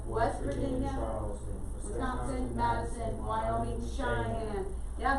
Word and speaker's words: Cheyenne: Wyoming, Cheyenne. Yeah, that last one is an Indian word. That's why that one's pronounced a little bit differently.